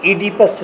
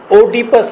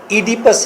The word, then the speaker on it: Oedipus: ओ को साइलेंट करें अगर आप तो ईडिपस रेक्स प्रोनाउंसिएशन है इसकी, ईडिपस रेक्स। ओडिपस रेक्स इसकी गलत प्रोनाउंसिएशन है। ईडिपस रेक्स बाय सोफोक्लीस ये इसकी राइट काइंड ऑफ प्रोनाउंसिएशन है।